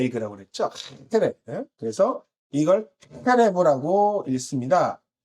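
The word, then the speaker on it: חרב: 그래서 이걸 헤레브라고 읽습니다. 그 앞에 있는 이 H, 하에 해당하는 의미로 칼을 뜻합니다. 라고 읽고요.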